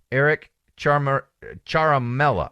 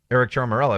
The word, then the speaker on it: Eric Ciaramella: of this CIA analyst, Eric Ciaramella, I believe is how you pronounce his name.